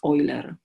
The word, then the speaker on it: Euler: I pronounce Euler because it's like think German pronunciation.